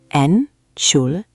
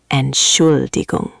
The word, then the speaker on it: Entschuldigung: Break it down. Entschuldigung. 4 syllables. The emphasis is on the second one. Entschuldigung. Try it. Entschuldigung.